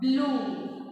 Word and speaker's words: blue: So first vowel U is the speaking vowel and E is the silent vowel. So here only U you have to pronounce. E will be the silent.